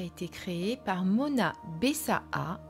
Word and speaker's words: Bessaa: été créé par Mona bessaa il faut bien prononcer bessaa parce qu'il y A 2A et Karen chevalier Mona